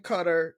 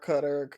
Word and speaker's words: Qatar: A lot of the military guys they call it cutter for some reason. I don't know. But uh I heard it pronounced that way too though.